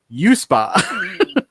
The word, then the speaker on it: UESPA: They, pronounced by Captain Kirk as USPA.